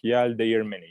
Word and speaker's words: Yeldeğirmeni: It's a G that we don't pronounce. So when you look at the words, you just read it like Yeldeğirmeni.